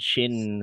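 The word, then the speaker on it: ش: Huruf sin sukun dan shin sukun.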